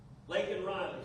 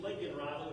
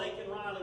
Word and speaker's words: Laken Riley: Laken Riley, someone we're all familiar with now. I can't pronounce her name. He can't. He thinks she's Lincoln Riley, which is a football coach in California.